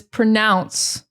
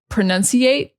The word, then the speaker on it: pronounce: The next one is pronounce. This is not a hard word to say, but a lot of students will say pronunciate, which is just the wrong word. The correct word is pronounce.